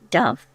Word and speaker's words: duff: nettle used in fishing figgy Duff pronounce Dove baked Plum Pudding fiddle